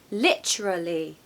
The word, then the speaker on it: literally: a long sound there the spelling is so confusing isn't it so let's say it together literally so stress the first syllable guys okay literally literally we